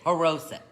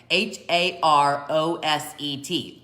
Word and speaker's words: Haroset: Anyway, usually the accent is on the last syllable. That being said, I know that the O in the middle is a long O, so I think it's Haroset. Okay, Haroset.